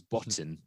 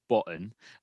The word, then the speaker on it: Botton: Um, did it with that very southernly the T, not pronouncing the T. It's Botten, but I say Botten.